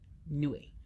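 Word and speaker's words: Nuit: Nue. You don't pronounce the T. I heard somebody say it, and it's Nue.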